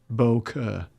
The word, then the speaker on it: bokeh: It is pronounced bokeh. Okay. Bokeh. Sounds like you're from up north.